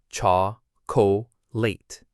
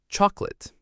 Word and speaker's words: chocolate: It looks like it should have 3 parts, cha-co-late. But we stress the first part, chalk. The middle O disappears. It gets swallowed by the schwa. We say chocolate. 2 syllables, not 3.